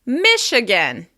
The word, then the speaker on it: Michigan: Moving on, Michigan. Michigan. As you can hear, we're stressing the first syllable. Michigan. Michigan. Michigan.